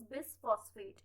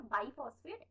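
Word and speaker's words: bisphosphate: तो RUBP जो है राइबुलोज बिसफॉस्फेट, तो और सॉरी वो मैंने प्रीवियस वीडियो में राइबुलोज बिसफॉस्फेट की जगह मैंने राइबुलोज बाइफॉस्फेट 2 बार वहां प्रोनाउंस किया है। इट्स नॉट बाइफॉस्फेट, इट्स बिसफॉस्फेट।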